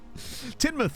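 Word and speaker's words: Tynemouth: it's ewellyn it's not Fluellen Hadrian it's clearly tinmouth yeah M's parents seven timoth um it's really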